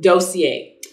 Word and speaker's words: Dossier: I'm finally pronouncing it right. Dossier.